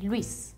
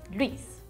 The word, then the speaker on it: Luis: In Spain, we say Luis, because it has an accent. Luis.